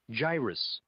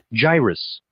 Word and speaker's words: gyrus: So let's listen to how the word's pronounced. Gyrus. Gyrus.